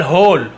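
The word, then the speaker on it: whole: डब्ल्यू एच को हम यहाँ पे डब्ल्यू साइलेंट होता है तो केवल होल, होल। जैसे रॉन्ग था डब्ल्यू साइलेंट, वैसे यहाँ पे डब्ल्यू साइलेंट है, केवल होल।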